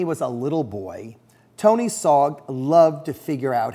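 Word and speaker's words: Sarg: of Anthony Tony Frederick SOG sog rhymes with Aug he lived from 1880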